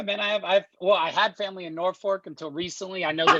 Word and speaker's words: Norfolk: I had family in Norfolk until recently. I know that it's not pronounced, it's not pronounced with an L, it's pronounced with an R.